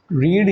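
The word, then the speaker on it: read: तो राम, हाँ भाई, राम जो है पढ़ता था, तो रीड ही लिखेंगे, लेकिन प्रोनाउंसिएशन क्या आ जाएगी, रेड, बोलेंगे रेड।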